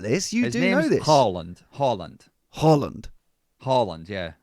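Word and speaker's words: Haaland: night kept calling now how do you pronounce Harland well do you know his name's Holland okay but everyone said Harlan so he just kept it double A in Norwegian as an old oh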